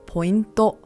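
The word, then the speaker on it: ポイント: In Japanese, this is pronounced pointo.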